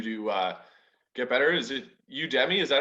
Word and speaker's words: Udemy: you can do to get better is it you debbie is that how you pronounce it guys yep okay yeah so the